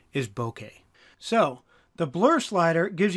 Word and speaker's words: bokeh: This is a Japanese word which was directly adopted into English. I used to think it was pronounced bokeh. It's spelled boke k eh but the correct pronunciation is bokeh.